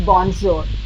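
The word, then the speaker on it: bonjour: जे एंड जी and that's how we pronounce बोंजोर बोंजोर यस J sound is there बोजोर यस आई आई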